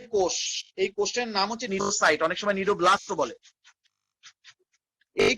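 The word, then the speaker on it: cnidocyte: এই বিশেষ কাঁটাযুক্ত কোষগুলোর নাম হচ্ছে নিডোসাইট। এই বিশেষ কাঁটাযুক্ত কোষগুলোর নাম, এত জোরে শব্দ করলে কি পড়ানো যায়? এই বিশেষ কাঁটাযুক্ত কোষগুলোর নাম নিডোসাইট। সি থাকবে, উচ্চারণ হবে না, NIDOCYTE, নিডোসাইট।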